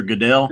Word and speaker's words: Goodell: uh what is it Goodell is that how you say his name pronouncer Roger Goodell yes correct art he was booed